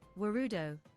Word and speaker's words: Warudo: It's how do you pronounce it? Kabab says, Warudo.